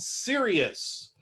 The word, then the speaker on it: Sirius: throughout the year and it's called sirius and yes it's one serious star but as you can see this series is spelled s-i-r-i-u-s like the character in